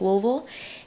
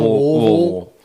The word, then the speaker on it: Louisville: friends that are from Louisville. You got to say it like you got molasses in your mouth, you know. Like missing missing letters.